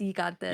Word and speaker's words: gigantes: And it's kind of spelled like gigantes. But it's gigantes. Yeah, I gotta get that G, but it's a Y.